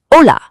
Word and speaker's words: hola: It's silent. It's there when you write it, but when you speak, you just pretend it's not there. So the word for hello isn't hola, it's just hola.